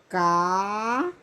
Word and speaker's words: caráter: Caráter, ó. Vamos lá. Caráter. Ó, a sílaba forte aqui. Caráter.